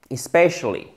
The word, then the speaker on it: especially: So, especially. I court, mais après, c'est un « est ». Comme le « e » accent grave en français. Especially.